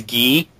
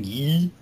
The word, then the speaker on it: Guy: number eight gufu G oh it's ghee ghee his name's guy but they called him ghee it's French oh come on come